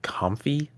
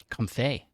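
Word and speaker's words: Comfey: of my life uh apparently it's potentially potentially pronounced comfy comfy as in the mix between the words comfy and lay oh that wine actually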